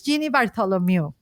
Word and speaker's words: Jeannie Bartholomew: going to be excited to know who is Genie Bartholomew and I hope I'm I'm pronouncing well your last name and your your